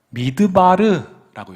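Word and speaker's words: מדבר: 자, 그런데 광야는 히브리어로 미드바르라고 읽어요. 미드바르. 한번 따라해 보세요. 미드바르. 네, 저기 보이시죠? 오른편에 있는 글자가 미드바르입니다. 근데 앞쪽에 있는 미음자만 딱 빼내면 다바르 이렇게 읽어요.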